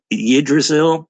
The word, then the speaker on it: Yggdrasil: It says, I'm you could pronounce this YGG Yggdrasil.